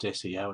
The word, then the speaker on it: SEO: uh so first off that is how it's pronounced SEO it's not CEO or so it's it's an acronym for search